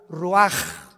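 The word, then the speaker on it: רוח: Se pronuncia la ch en hebreo como J. Roaj, se le haó y se traduce espíritu.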